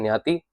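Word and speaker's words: ज्ञाति: तो न्य जो हम प्रोनाउंस करते हैं न्याति।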